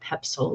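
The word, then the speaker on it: Poepsel: by going to his personal website it's Matt pepsil let me spell that for you because it's not obvious Matt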